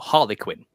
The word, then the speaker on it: Harlequin: And he's called Arleino or Harley Quinn is how he's pronounced in English in British.